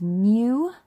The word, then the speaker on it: mu: it's fun to write it's mu you say it like a kitten you okay this is the